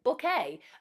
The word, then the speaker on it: Bucket: In fact, he actually joked that she sounded like Hyacinth Bouquet. Actually, her name is spelled Hyacinth Bucket.